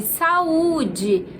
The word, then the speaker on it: saúde: 19, saúde. Claro que a sílaba mais forte é a sílaba acentuada, então é o U.